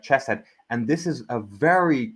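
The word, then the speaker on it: חֶסֶד: The the H with a dot is pronounced like a ch sound. So that would be like chesset.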